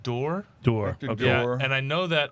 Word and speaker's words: d'Or: a saturn cast yes and i believe it's pronounced door door and i know that only because a scotsman yelled at me for saying dior this is not i'm not this is not